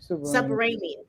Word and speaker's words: Subramanian: Now, how do you pronounce this? Because I will mess his name. Is it Subramanian? Arun Subramanian. Subramanian.